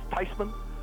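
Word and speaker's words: Theismann: you this she said the correct pronunciation is tysman and it's closer to it so I'm okay with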